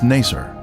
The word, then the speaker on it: Naser: the 19th century was Naser this pronunciation is similar to nicer a village that the